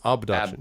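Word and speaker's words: Obduction: Abduction, that's what it is. Abduction, yes. Yes, abduction with an O, which is actually a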